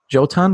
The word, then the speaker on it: Jotun: This is the same studio that came out with, and I'm going to mispronounce it, but is it Juntu or Juntu? Oh, Jotun? Jotun, yeah.